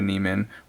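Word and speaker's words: Neumann: I want to upgrade though, so I'm highly considering upgrading to a Neiman or Newman, depending on how you pronounce it.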